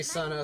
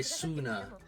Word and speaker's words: Sana: I think some people say Sana, some people say Suna.